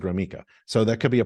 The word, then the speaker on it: Gromicko: you how do you there's no e in it but I pronounce it groma so that could be